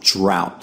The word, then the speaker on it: drought: plow and drought drought so as I mentioned earlier this word has the out sound even though it ends with t but usually they have the a sound okay so here we have the ow sound drought so if you remember this one the exception it should be fairly easy now let's look at